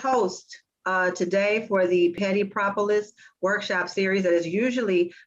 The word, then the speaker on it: Petty Propolis: i didn't get pronounced i kept saying pretty populous and i was like that's not right petty propolis it's like a little bit of a tongue twister um tawanna's so smart